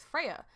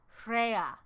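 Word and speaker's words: Freyja: to say Freya like do you want me to pronounce the J you're not supposed to pronounce the J ding-dong not British I'm Welsh Freya Freya is that better I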